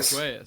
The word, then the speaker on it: Pegues: Pegues? Pagoyas.